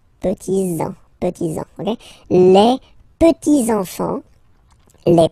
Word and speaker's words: petits-enfants: Okay, so les petits-enfants, make this liaison here, petits-enfants, petits-enfants, okay?